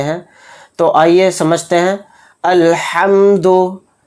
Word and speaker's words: الحمد: تو آئیے سمجھتے ہیں۔ الحمد، الحمد، اس طرح سے بڑا ہا یہاں پر نکالنا ہے۔ للہ، للہ میں جو